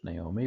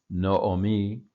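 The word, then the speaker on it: נָעֳמִי: Here you have the two O sounds in a row for Naomi, Naomi, Naomi, as we would say in English, Naomi, but Naomi is the pronunciation here.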